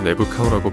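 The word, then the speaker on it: Neb-khau: 그런데 뒤에 이렇게 타가 3개가 있으면 복수형으로도 해석할 수 있고 동사의 명사형으로 해석할 수도 있는데 그래서 내부 카우라고 발음하고 나타남의 주인이라는 뜻이고 역시 사람을 출생명 앞에 붙이는 칭호 중에 하나입니다.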